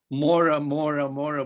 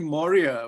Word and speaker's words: Maurya: So yeah, because when I looked at your name, you often tend to mispronounce it because Mora, but it's actually Maurya, which is so un-American in a sense, but it can look American when you're looking at it.